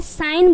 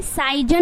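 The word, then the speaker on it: sign: है रिजाइन बोलना है उसके बाद क्या है साइन बोलना है साइजन नहीं बोलना है क्या बोलना है साइन उसी तरीके से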